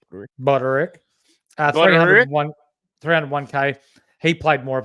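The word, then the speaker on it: Budarick: Buderick? Buderick.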